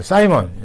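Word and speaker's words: Simon: 그다음에 사이먼 여러분들 시몬이라고도 읽기도 하고요. 사이먼이라고 읽기도 합니다.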